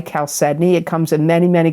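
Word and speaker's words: chalcedony: the energies in September of 2025, you got calcedney. I'm going to spell it. C H A L C E D O N Y. Caledney.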